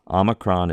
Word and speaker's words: omicron: The difference, see, aw, omicron is aw, omega is O.